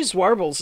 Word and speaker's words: zwarbles: coated uh swarbles actually zwarbles is pretty nice it if you're going to look for a black fiber zwarbles and it is spelled with a z um and does have a w in it anyway that's a